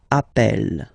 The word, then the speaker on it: appelle: and then you get a double consonant, and well, they are the same, then it does change the pronunciation of a. You tend to pronounce it like really open. That's the reason why you pronounce it appel, okay?